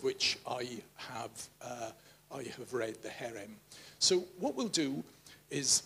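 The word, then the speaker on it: חרם: And in the NIV footnote, it says the Hebrew term, and it hasn't come out properly there, but it's pronounced herem, refers to the irrevocable,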